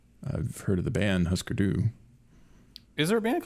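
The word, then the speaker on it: Hüsker Dü: Well, it's Huskerdu. And I think the U has an umlaut, so it could be that it's husker-du.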